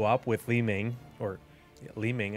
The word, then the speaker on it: Li Ming: with Li Ming, or Li Ming, I said it right. People have been saying Mi Lang and Li Mang and all kinds of different awful pronunciations, and it has plagued my brain.